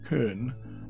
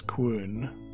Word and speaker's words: quern: Yes, I said quern. Previously pronouncing it kern. Nope, I went to go look it up. It's quern.